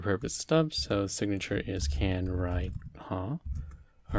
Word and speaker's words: can-ride?: can write huh so sometimes this question mark is pronounced huh right like a question so can write huh that consumes an age